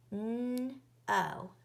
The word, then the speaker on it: know: N-O. A vowel sound follows the N sound. And think of the most common way to spell N. K-N. K is a silent letter or a ghost letter.